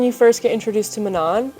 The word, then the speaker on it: Manon: this entire series is Manan which as I was reading it I always called her Manon I understand that that's not how you pronounce her name and I figured as